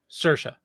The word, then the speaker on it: Saoirse: Saoirse. Thank you. I Saoirse. didn't. Yeah. I'm looking at and I'm like, Yeah. Cerise. She's Irish. Okay, Saoirse.